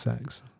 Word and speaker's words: CEX: It's pronounced sex.